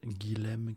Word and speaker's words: Guilhem: Il s'appelle Guilhem Kézak. Guilhem, je suis plus sûr de comment ça s'écrit, on va dire G-U-I-L-H-E-M, Kézak, C-A-Y-Z-A-C.